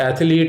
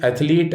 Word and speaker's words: athlete: It is not athlete or athletic, rather, it is athlete and athletic. Two syllables are enough for athlete.